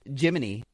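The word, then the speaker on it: Gemini: Astronauts also received custom wakeup songs from mission control each morning, a tradition dating back to the, it is pronounced, Jiminy missions.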